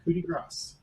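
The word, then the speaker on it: coup de grâce: So I And get apparently, the appropriate pronunciation is coup de grace.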